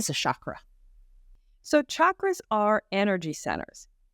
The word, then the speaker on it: chakra: even if we don't and and it's not chakra it's chakra yeah you it is CH a harder CH